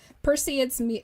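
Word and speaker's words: Perseids: The crop formation formed during the annual pers I always say it wrong. Perceds meteor shower.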